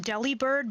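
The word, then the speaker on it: Delibird: No, that I'm pretty sure it is pronounced deli bird, but it is upon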